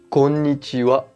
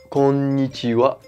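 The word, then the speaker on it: こんにちは: films français munichois alors la vraie et seule prononciation et konichiwa konichiwa la clé de la prononciation en japonais est de toujours avoir le mot écrit en qui la gagnent à devant toi ou dans ta tête et puis j'ai prononcés ces lettres une par une surtout si tu es un débitant prend d'antan quand ni chee wah ce qui donne un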